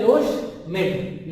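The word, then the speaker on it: Loschmidt: इस तरह Avogadro number है, उसी से मिलता जुलता ये नंबर है लोशमिड, प्रोनाउंस करते हैं इसे लोशमिड नंबर।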